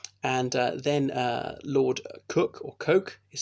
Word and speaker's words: Coke: of the King's Bench Lord coke or Lord cook some people pronounce it in the early